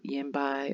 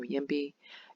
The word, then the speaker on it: YIMBY: I believe this is pronounced Yimby or Yimby.